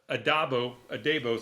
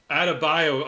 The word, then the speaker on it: Adebayo: Mern, Amelia Harcourt, John Economos, and newcomer Leota Adabo, sorry. Out of bio. Adebayo. Oh man, I'm so sorry. I butchered that last name there.